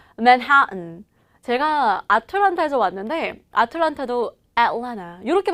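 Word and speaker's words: Atlanta: 제가 아틀란타에서 왔는데 아틀란타도 애틀랜타 이렇게 발음하거든요.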